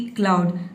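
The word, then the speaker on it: cloud: जैसे कि क्लाउड, सी एल का हो जाएगा क्लॉ, ओ यू का हो जाएगा आव, ये हो जाएगा डी का हो जाएगा ड, ठीक है। आपका हो जाएगा क्लाउड।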